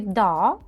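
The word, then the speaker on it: dağ: Вона сама не читається, але попередню літеру вона голосну подовжує. Тобто в нас ця а як подвійна буде. Ми не да кажемо, да? А да, як довга така, да, да, гора.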